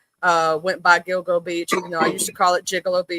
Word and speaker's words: Gilgo: it, I called it even though I knew it was Gilgo, I called it Jill Jigalo because that's the way it's spelled.